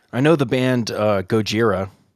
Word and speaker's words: Gojira: know the band uh Gojira their name is from the Japanese pronunciation I think it's Japanese of Godzilla yep that's a what